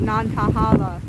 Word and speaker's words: Nantahala: uh this is the nantahala forest and i know uh the locals here pronounce it differently but the natives here communicating to spirit and the great spirit out here she calls it non-kahala forest so i'm going